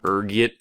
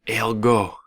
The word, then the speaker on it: ergot: There's a few different ways you can pronounce it depending on your social standing, ranging from ergot to algo. Being the disheveled popper I am, I prefer ergot.